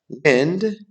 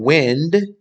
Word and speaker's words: wind: How about wind? Sounds like find, to bend, as in a road. How about wind? Sounds like pinned, blowing air, right?